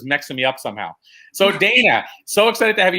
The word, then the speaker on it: Dayna: Is it Dayna or Dayna, or how am I pronouncing it? It's Dayna.